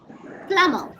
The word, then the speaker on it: plumber: Plumber. Yes. B is again silent. Plumber. But sometimes people when we talking about Indian English sometimes they say plumber but actually it is plumber.